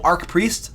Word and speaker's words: archpriest: archpriest Ark arch oh you're saying arch arch priest another example of me mispronouncing crap so it's arch priest I will I will